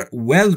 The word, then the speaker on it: well: اما وقتی که میخواید W در well رو تلفظ بکنید، باید دقت داشته باشید که لبهای شما در هنگام تلفظ W باید به صورت بوسه تقریبا باشه و هوا از دهان شما خارج میشه.